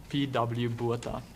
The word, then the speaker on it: Botha: P.W. Botha.